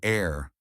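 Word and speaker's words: heir: an HW depends on whether the H is pronounced an air an honor an hour in these cases the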